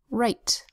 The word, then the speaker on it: right: Right begins with the W-R that says r, and an I that makes a long I sound, because as you'll see, it's part of a vowel consonant silent final E syllable, where the E makes the I make its long sound. R, I, T, and the E is silent. Right.